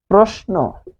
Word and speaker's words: প্রশ্ন: ফলে এটি হবে প্র, হবে প্রো, প্র হবে, উচ্চারণ হবে প্রো। কারণ কি? এই যে এখানে অ এর নিয়ম পড়েছে, অ এর নিয়ম কি বলছে? রফলা যদি থাকে শব্দের শুরুতে তাহলে সেই অ ও হবে প্রোষ।